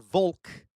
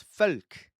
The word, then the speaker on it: Volk: V's are pronounced as F. So this word right here, V O L K, is not Vulk. It's folk.